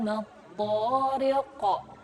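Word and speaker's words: الطارق: Adraka mat-tariq. Nah, mat-tariq, qaf di sini adalah huruf qalqalah yang ada di akhir ayat atau di akhir kalimat, maka dibacanya qalqalah kubra.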